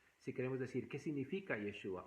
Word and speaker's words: Yeshua: Y de esa manera podemos darle casi la pronunciación hebrea a ese nombre lo mismo cuando decimos yeshua por ejemplo yeshua es hebreo y nosotros en nuestro idioma lo escribiríamos como y s h u a entonces yeshua que eso es una transliteración Si queremos decir